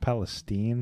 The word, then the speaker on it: Palestine: did with like the national disaster in East Palestine. Yeah. Which apparently is pronounced Palestine.